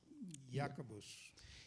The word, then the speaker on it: Jacobus: Y en latín se decía Jacobus. And in Latin, it is pronounced Jacobus.